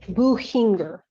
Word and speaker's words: Buchinger: Buchinger, Your Honor. The C is silent? Yeah.